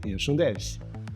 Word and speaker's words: hirschundelch: I am and I am the person behind hirschundelch. Yes, that's how it is pronounced.